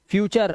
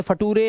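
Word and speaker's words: future: last में यू आर है कल्चर अर से पढ़ना है फ्यूचर अब इसे फटूरे लटूरे नटूरे है ना या फिर लटूरे ऐसा नहीं पढ़ना है रूल्स है रूल्स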